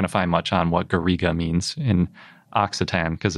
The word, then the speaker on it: garriga: And it's pronounced Garrig in French or Garriga in Occitan.